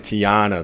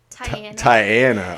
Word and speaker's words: Tianna: Diana Weymouth okay because I was saying Tiana the whole time but it's tight it's Tyanna okay Princess Diana because